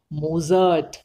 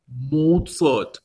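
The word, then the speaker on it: Mozart: আমার কিন্তু আপনার নেই কি রকম হাইডেন মোটার্ট বেটোফেন এই হলো আসল উচ্চারণ হাইডেন মোটার্ট বেটোফেন থ্যাঙ্ক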